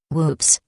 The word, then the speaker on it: WPPSS: on july 25th 1983 wppss pronounced with macabre humor whoops announced that it was